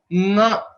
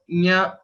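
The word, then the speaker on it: ङ: Some people say nya, nya, etc. But the right way to pronounce is to note the exact place of origin of ka and nga are same.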